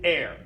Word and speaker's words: R: know everybody's thinking it we all breathe air okay that's how we pronounce the letter R we say air R is air s super easy s